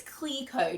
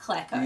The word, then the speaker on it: Cleco: Silka Flex oh and apparently it's Cleo not Cleco yeah but then also